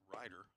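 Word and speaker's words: Reiter: R-E-I-T-E-R, pronounced Ryder.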